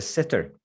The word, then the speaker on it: sitter: Okay, so you don't want to say sh, you want to say s.